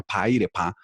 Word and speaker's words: pairepa: No, esto surtido un proceso muy largo y actualmente, en especial con el pueblo corebajú o coreguaje, realmente en lengua se pronuncia pairepa, en el departamento del